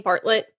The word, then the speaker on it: Bartlett: Is that how you pronounce his last name, Bartlett? Yeah. Okay.